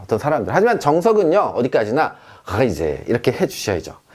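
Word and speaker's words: Reise: 하이제. 얘는요, 여행이라는 뜻입니다. 에어로 시작했죠. 근데 여러분, 이 경우는요, 그냥 편하게 라이제 이렇게 말하기도 합니다, 어떤 사람들. 하지만 정석은요, 어디까지나 하이제 이렇게 해주셔야죠.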